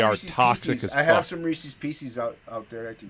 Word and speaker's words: Reese's Pieces: toxic I have some Reese's Pieces out out there that can get them dude why do you say it PCS like feces Reese's Pieces